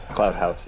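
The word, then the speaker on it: Cloud Posse: I don't know how to pronounce it, but Cloud House. Cloud House, yes.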